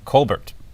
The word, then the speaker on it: Colbert: Yeah, he's going to be Stephen Colbert. Right, I think that's how it's actually pronounced.